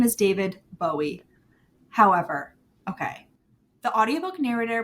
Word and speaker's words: Bowie: at David Bowie pronouncing his name and he pronounces it Bowie and in fact there's an interview he's British